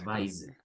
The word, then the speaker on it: advise: Advise. Ajá, con S. Advises. Aunque es con S, se pronuncia con Z. Les pronunciamos advise. Advises, all Y right.